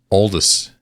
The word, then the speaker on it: Aldous: No, yeah, it's Aldous. So British people pronounce it Aldous. Aldous. But Canadians, like North America, it's like Aldous, I guess.